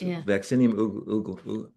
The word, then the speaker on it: Vaccinium: case of this one vaccinium I can't pronounce it yeah it's vaccinium okay thank you Bob Bilbury and but the the translators leave this stuff out.